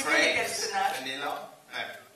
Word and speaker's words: vanille: Vanille. Si, voilà. Oui. You're learning French tonight, you're learning French. Donc, si vous regardez bien les personnages... Vanilla? No. Vanille.